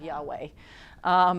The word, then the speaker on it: Yahweh: up with jehovah but it's actually just a weird way of saying Yahweh know what the term